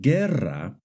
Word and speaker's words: guerra: For example, in the word guerra and guineo, the U is silent. But in the word vergüenza and in the word pingüino, the U is pronounced.